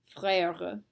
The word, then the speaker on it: frère: Frère. Remember to split your syllable after the E, and that should help a little bit.